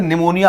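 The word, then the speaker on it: pneumonia: अब आप बोलेंगे सर निमोनिया आपने पी से क्यों लिखा? भाई पी से ही स्पेलिंग शुरू होती है। पी साइलेंट रहता है।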